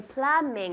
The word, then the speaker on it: plumbing: good now we say Plumbing is plumber plumber is the person fontaneria is the noun yes yeah plumbing plumbing that b is silent good and the and